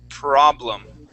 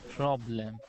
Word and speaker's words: problem: uh okay let's uh let's practice that R sound one more time we're going to say per problem problem much better yeah so